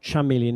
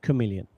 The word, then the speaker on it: chameleon: Ch is usually pronounced ch, but sometimes it's pronounced c. Here it's pronounced c. So, it's not chameleon, it's chameleon.